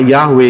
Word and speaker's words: Yahweh: itu jelas y he W he nulisnya dan eh pelafalannya adalah yahwe itu namanya memanggil serukan